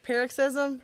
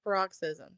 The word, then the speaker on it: paroxysm: sure so uh uh pronounce it for me again is paroxysm I was pronouncing baroxism so even when I